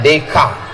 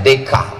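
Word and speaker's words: Descartes: Des chartes pernah dengar cara membacanya DK Jangan nanti kalian bilang menurut Des chartes itu cara bacanya dek karena Prancis itu tulisannya beda sama cara membaca tulisannya bonsoir cara bacanya bonswa Selamat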